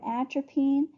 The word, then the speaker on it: atropine: a good way to remember atropine is it it rhymes with trampoline and it makes your